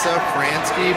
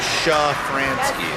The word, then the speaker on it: Safransky: It is pronounced Safransky, but in Poland back in the old days they said Shafransky.